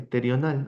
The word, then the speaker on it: pterional: Para esta clase vamos a hablar del abordaje terional, así como se escribe PT R I O N A L.